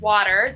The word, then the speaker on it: water: So I say the word water, W-A-T-E-R, sounds like W-A-D-E-R almost.